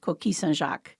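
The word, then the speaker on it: coquilles Saint-Jacques: self-taught Gourmet cook was kis sjac and I do pronounce it the French way because that is um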